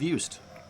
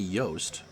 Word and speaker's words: Yost: so we'll go with yust it wouldn't be yoast that would be y o s t as in ned anyway pitch to stern